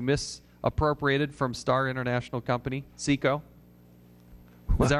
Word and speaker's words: SICO: CECO. Yeah. I'll pronounce it that way.